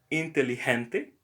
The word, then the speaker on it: inteligente: Inteligente. So another example, the letter G here sounds like H, but elegante, G.